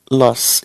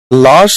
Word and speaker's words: lass: लॉस, इसकी pronunciation का भी थोड़ा ध्यान रखें। लाश मत पढ़ लेना, पता चले किसी को टपका बैठो तुम, ठीक है ना।